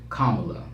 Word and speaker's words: Kamala: She told us that her name was Kamala. So I don't know how we didn't know it. That's how she pronounced her name. Her name is Kamala.